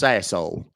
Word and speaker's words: Sassohl: It's pronounced Sassol. It's French.